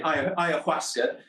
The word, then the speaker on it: Ayahuasca: You pronounce it perfectly, by the way. Ayahuasca.